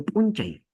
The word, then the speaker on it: punchay: En el caso, por ejemplo, de Punchay, la mayor fuerza de voz es un, y bajamos. Chay. Un, chay.